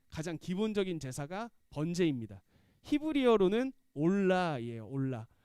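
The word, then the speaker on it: עֹלָה: 히브리어로는 올라예요. 올라. 네. 히브리어의 이 발음이랑 우리나라 발음이랑 뜻이 좀 비슷해요.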